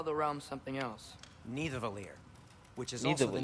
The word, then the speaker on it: Nidavellir: Nidavellir. And Svartalfheim. I'm really good at like Norse pronunciations apparently. Like it's not You hear Thor, that? it's Thor. And it's Nidavellir.